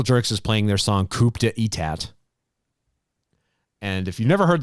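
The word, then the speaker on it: coup d'état: So Circle Jerks performs at Coachella, and they played a song called Coup d'etat. Aha! And that's not coup, it's coup d'etat. Coup d'etat. Thank you. You know how my pronunciation. It's like crudité.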